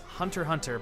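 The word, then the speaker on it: Hunter × Hunter: to do this is hunter hunter by Oceania Takashi it has an X in it but apparently you're not supposed to pronounce the X I think that's dumb but that's apparently how it works so whatever I think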